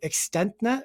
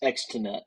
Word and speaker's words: Extenet: never say it right, ExtentNet or something like that? It's Extenet Systems.